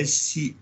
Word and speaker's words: sunt: Então, pacta, sunt é S-U-N-T, sunt, servanda.